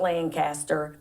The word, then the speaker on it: Lancaster: so I lived not Lancaster I learned how to say it the right way when I moved there it's Lancaster Lancaster not Lancaster I've been there I've